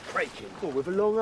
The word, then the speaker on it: Kraken: Always heard it said Kraken. Oh, with a long A? No. Crockland's how it's pronounced.